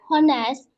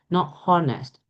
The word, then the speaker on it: honest: Brave, cheerful, easygoing, generous, helpful, honest, intelligent, nervous, reliable, selfish, serious, sociable.